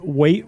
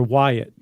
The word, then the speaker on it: Waite: I think in 1832, a guy named Waite Webster. It's either Waite or Wyatt, but it's spelled like Waite, W-A-I-T.